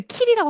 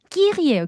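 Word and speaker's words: Kiri: 그거를 키리라고 하면 안 되고끼리 끼리예요.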